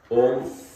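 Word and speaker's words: ॐ: होना चाहिए तो कैसे पहले अ पहले उ फिर म और फिर अ य चार को कैसे उच्चारण करना है सीखो पहले अ करना और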